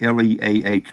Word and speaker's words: Leah: by the way emily do you say your name l-e-e like or pronounce it like l-e-e or do you pronounce it like l-e-a-h leah it is that's my guess too